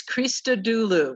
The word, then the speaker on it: Christodoulou: action tonight thank you athena okay and it's krista dulu that's how you say it that's right